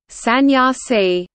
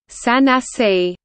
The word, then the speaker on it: sannyasi: In Dravidian languages, sannyasi is pronounced as sannyasi, and also sannasi in colloquial form.